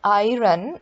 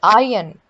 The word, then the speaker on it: iron: it is it's not iron it's iron okay it's i n r is silent here next is should observe